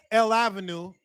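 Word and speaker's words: L'Avenue: to Paris you know L Avenue that's how you say it when you speak English L Avenue that's one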